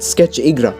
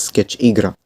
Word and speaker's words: Sketch Igra: ever Roblox account called Sketch Igra. It's pronounced Sketch Igra. It's not pronounced Sketchigra.